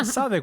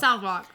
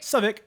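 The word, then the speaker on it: Southwark: uh yeah so onic yeah there you go svic which is actually like it's pronounced uh southwalk southwalk but they say what svic um yeah it's crazy like we had a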